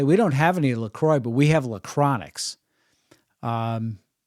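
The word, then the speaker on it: La Croix: love to pronounce it lacronix and in our family when I read c-r-o-i-x and it's uh prefaced by La I would pronounce it LaCroix so I do believe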